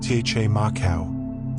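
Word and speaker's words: camakau: The kamicau, pronounced tche marau, is Fiji's traditional outtrigger canoe, and it's a marvel of engineering refined over thousands of years.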